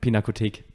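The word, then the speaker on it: Pinakothek: then the other one how do you say the Pino Tech pinakotik yeah um you say it better than me I don't know why but uh probably because it's German oh there's that yeah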